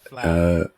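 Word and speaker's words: fleadh: I'm gonna try to pronounce this flag Fla, F, flag. Fla, Galway. like FLAH, I guess.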